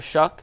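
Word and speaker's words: Shough: The 5 we know, Ward, Sanders, Tyler Shuck, who I said it right, shout out me, Jalen Milroe, and now Jaxson Dart.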